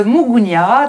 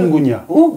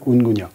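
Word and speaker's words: Unguja: Votre film se déroule sur l'île de Mugunya, sur l'archipel... Ungunya. Pardon. Ungunya. Ungunya, je le prononce mal. L'archipel de Zanzibar. C'est vrai que souvent, on parle de Zanzibar, c'est un archipel, et l'île principale s'appelle Ungunya.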